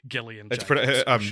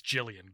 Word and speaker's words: Gillian: um gillian slash j my mum's name is spelt the same way and it's pronounced jillian i don't know why people say gillian jacobs pronounce the scenario